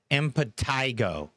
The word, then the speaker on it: impetigo: Impetigo.